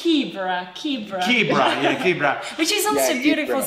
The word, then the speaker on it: Kibera: It's Kibera. Which is also yeah, beautiful. But it sounds like a zebra.